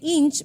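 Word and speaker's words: Hinche: en las comunidades de Inch, me dijo que así se pronuncia, y Mirabalé.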